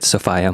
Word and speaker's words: Sophia: someone that does go to Sophia miles who played the role she pronounces it sopia miles on the commentary yeah W that's her